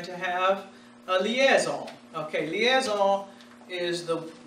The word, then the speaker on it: liaison: that you're going to have a liaison ok liaison is the pronouncing and in French for you we hear